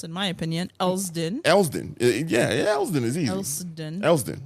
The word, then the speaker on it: Elsdon: And the hardest community area to pronounce, in my opinion, Elsdon.